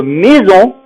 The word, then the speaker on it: maison: Par contre, maison, AI, on prononce E fermé parce que le AI ne se situe pas dans la syllabe forte.